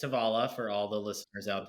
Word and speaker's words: Tovala: did you come up with it so it's tavala for all the listeners out there uh uh